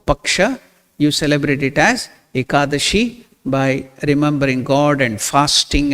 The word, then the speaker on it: ekadashi: pronouncing it is aa aa means one Dasha means 10 together akadashi aashi that is the 11th day of the both Paka you celebrate it as ekadashi by remembering God and